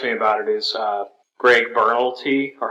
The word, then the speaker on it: Berlanti: The thing that excites me about it is Greg Berlanti, or how do you say his name? Berlanti.